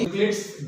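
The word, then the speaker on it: Euclid's: Okay, यूक्लिड्स division lemma, ये ई silent होता है तो उसको हम यूक्लिड्स पढ़ते हैं।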